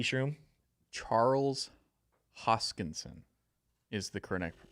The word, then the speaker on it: Hoskinson: matic any of your thoughts t shroom charles hoskinson is the current it's the correct pronunciation yes charles hoskinson it i got it